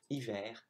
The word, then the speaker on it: hiver: And then for sentence 2 and 3, on top of the S's, you also have the H of hiver and d'habitude, which you don't pronounce.